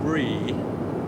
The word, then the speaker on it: Bree: The little girl is called Bree, and I'm assured that that's how it's pronounced.